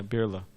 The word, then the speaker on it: Birla: the house of mrs i think the names pronounced uh birla is it yeah birla so at the time she was one of